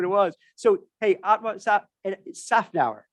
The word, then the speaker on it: Szafnauer: Szafnauer, the Z silent. It was added by the Hungarians when my grandfather moved over from Romania, which was Hungary at the time. But it doesn't belong there.